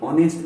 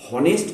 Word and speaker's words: honest: जैसे देखिए, यह एक ईमानदार आदमी है, this is एन ऑनेस्ट मैन, HONEST। इसको हम लोग ह शब्द का उच्चारण नहीं करेंगे, हॉनेस्ट का उच्चारण कभी नहीं होगा। क्या होगा, ऑनेस्ट का उच्चारण होगा।